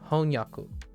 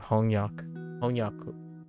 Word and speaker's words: honyaku: Like honyaku for translation, honyaku. And then honyak suru works. Honyak suru. Yeah, it does. When you think of mangaka, you kind of think of honyaku as well.